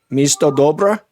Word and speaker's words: Misto Dobra: Marta Levchenko with City of Goodness or Misto Dobra. Did I say that right? You said it right.